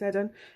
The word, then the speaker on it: Eden: cook or eden cook some people don't pronounce it eden it's edin uh krista gibbard julia